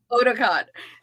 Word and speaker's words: Otakon: I cannot pronounce it. Please, what is it? Ahsoka Otakon. Otakon.